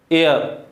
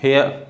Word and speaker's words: heir: ये honest, honest, HEIR, एयर, एयर, है ना, हेयर नहीं।